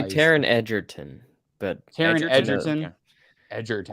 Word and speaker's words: Taron Egerton: I would say Taron Egerton. Taron Egerton?